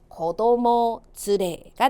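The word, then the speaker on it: 子供連れ: 가족 동반 발음이요. 가족그 즈레. 아이 동반은요. 그쵸? 고도모 즈레가 되겠습니다.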